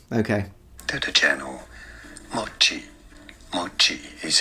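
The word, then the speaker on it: 餅: But it's the opposite. At least in standard Japanese, it's pronounced mochi. Mochi ga, it's a heiban pattern, so one of those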